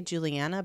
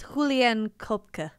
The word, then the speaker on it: Juliane Koepcke: I want to say Juliana, but that's like, there's it's like a, well, it's Juliane Koepcke. Yeah. There's a German pronunciation, but.